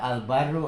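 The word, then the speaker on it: البَرّ: Kalau al-baru, al-biru kan beda artinya. Dibaca ba, dibaca bi, beda. Al-biru, al-baru beda. Al-baru daratan, al-biru kebaikan. Jadi yang kedua bisa membacanya.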